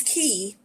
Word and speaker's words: quay: so this is a in british english this is key yeah in british english